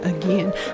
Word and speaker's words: Aegean: so he pronounced it my professor pronounced it again so i'm going to say again i also just recently